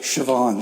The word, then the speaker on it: Siobhan: you say this name she's like siobhan she's like you pronounce that correctly co bond her name's